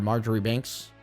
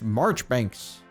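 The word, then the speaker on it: Marjoribanks: Marjorie Banks? It's pronounced Marchbanks.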